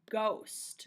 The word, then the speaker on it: ghost: you to find is ghost and it has that silent h g host ghost you hear that o say its name and the last word